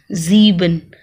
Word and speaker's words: sieben: I E है तो E की आवाज आएगी और E I की आवाज आ रही है तो I की आवाज आएगी. अगर E I कहीं लिखा हुआ है तो I की आवाज, I E कहीं लिखा हुआ है तो E की आवाज. So sieben.